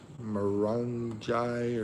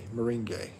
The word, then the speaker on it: moringa: And also they put, how do you say it? it's a healthy plant, morangi or something like that. That's in it. Moringa. Yeah, that's right. That's how you say it.